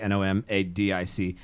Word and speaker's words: NOMVDIC: I know that on Facebook it's Nomadic, N-O-M-A-D-I-C, although now you are using a different spelling where you've taken that A and flipped it upside down. So now it's N-O-M-V-D-I-C, however still pronounced Nomadic.